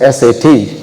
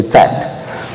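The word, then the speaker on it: सत्: In English, you might mispronounce it as always, S-A-T, Sat. You will say Sat. But anyway, the pronunciation is Sat.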